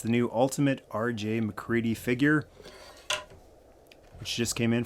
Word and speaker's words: MacReady: though that looks like it's supposed to be pronounced mcready it's actually mccready a picture of the helicopter on the side